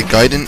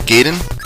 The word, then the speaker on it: Gaiden: So if I sound super smart because I can say Gaiden and not Gaiden, I'm not. I just learned it the right way. Anyway, Ninja Gaiden on the NES.